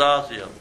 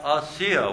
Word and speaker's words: Асия: Асия, много протестантски църкви го пишат Азия, но не Азия. Азия, Китай, Индия, това е Азия. Това е Асия, ударението на и.